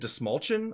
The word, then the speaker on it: Dastmalchian: A DC veteran at this point, David Dastmalchian, I believe it's pronounced.